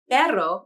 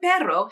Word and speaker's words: perro: The word perro means dog. Both words have the letter R, but perro has a trilled R, which means the tongue tip touches the alveolar ridge more than once.